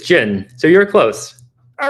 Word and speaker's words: Jian: How do you pronounce it? It's Jin, so you're close.